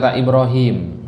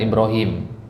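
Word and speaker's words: إبراهيم: perhatikan kata Ibrahim nah Ibrahim itu Ibrahim atau Ibrahim panjang pendek panjang kalau dia panjang ynya mana Kalau dari penulisan di Mushaf Al Quran Enggak ditulis ya-nya tapi dikasih simbol ya kecil gitu Ya dikasih simbol ya kecil gitu Ibrahim berarti Hi di sini tetap dibaca panjang kenapa karena adanya ya kecil tersebut idqala Ibrahim Nah ini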